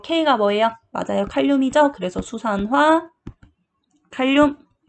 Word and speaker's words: 수산화 칼륨: 그래서 수산화 칼륨.